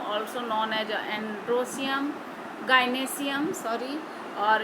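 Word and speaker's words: gynoecium: ये है कार्पेल, इसको हम लोग गाइनेशियम भी बोलते हैं, गाइनोएशियम ऐसे हम लोग स्पेलिंग लिखते हैं, गाइनेशियम बोलते हैं।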